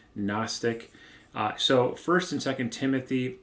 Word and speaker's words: gnostic: a more gnostic worldview that word starts with a silent g gnostic so first and second